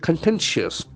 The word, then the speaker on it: contentious: outcomes very interesting but contentious the spelling is very tricky oil t e n t i or us can see the pronunciation contentious contentious the excellent false for the second syllable contentious contentious the only